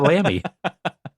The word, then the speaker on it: Lamy: I mean I can't afford an Audi, so I have a Lambie. Yeah. Four letters, two syllables. Yeah. Yeah. German brand. Uh Audi. No. L A M Y for those of you